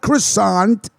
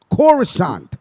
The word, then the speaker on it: Coruscant: jedi temple it at coruscant not christian right before not croissant coruscant disgraceful disgrace disgraceful that's